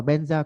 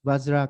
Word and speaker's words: Vajra: Thì thực ra chúng ta đọc là Benza cũng được hoặc là đọc Vajra cũng được. Tại vì cái chữ Benza là cái kiểu tụng theo âm của người Tạng, còn cái chữ Vajra